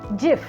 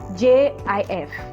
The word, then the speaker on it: GIF: it gif it is jif it is pronounced with a j j i f gif the inventor of